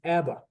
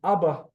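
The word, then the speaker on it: אבא: problem with transliteration, because most people will read this as Abba. Abba. Like the band. And Israeli would read it as Abba. Why? Because since birth, these are where I'm used to putting the emphasis on.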